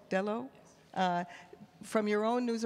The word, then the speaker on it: Delo: Can you share with us from your own setting, how do I pronounce it, Delo? Delo?